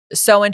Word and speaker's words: Samhain: Samhain.